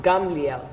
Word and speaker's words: Gamliel: Gamliel. Yeah. Did I say it right Yes, this time? yes. It's not easy for me to say Gamliel.